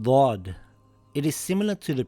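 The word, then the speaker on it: ضاد: The closest letter would be the letter D and the letter dal, but it is pronounced heavy. The sound also comes from the back of the mouth.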